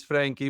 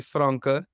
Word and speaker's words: Francke: Well, it's actually, so obviously I know people call it Frankie, but it's actually Francke.